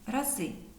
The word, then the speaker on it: рази: раз знайти зверніть увагу іменник раз у множині має наголос на другому складі рази але з числівником 2